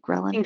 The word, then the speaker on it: ghrelin: that he pronounced @anjghie ghrelin so yeah like gremlin yeah exactly which really helps or it